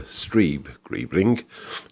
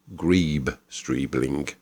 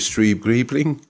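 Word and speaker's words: Streeb-Greebling: talking is Sir Arthur stre gribling you're confusing me with Sir Arthur Gree streeling I'm so sorry quite all right my name is stre gribling the Zed is silent as in Fox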